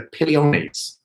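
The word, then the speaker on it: Opiliones: have to look this up in terms of pronunciation. It's the Apiliones category of animal.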